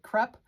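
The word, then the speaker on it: Krupp: from ELR creations and I hope I'm saying it right crup KR u p p El crup creations and I've got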